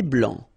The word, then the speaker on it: blanc: Un thé vert, un thé blanc, final C not pronounced.